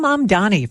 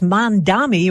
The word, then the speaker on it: Mamdani: And Zohran Mamdani, the mayor-elect of New York, also one of the year's most Googled names, says it's Zohran, not Zoran, and often gets Mandami or even Zamdani.